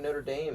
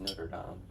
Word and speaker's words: Notre Dame: The correct French pronunciation of Notre Dame is not Notre Dame because they don't just fucking say R's. It's like Not. it's like it would be Notre.